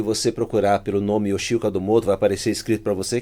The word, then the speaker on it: Kadomoto: É todo o perfil que você procurar pelo nome Oxil Cadomoto, vai aparecer escrito para você, que nome japonês é complicado, né? É Cadomoto, não é Cadamoto, tá? É Cadomoto.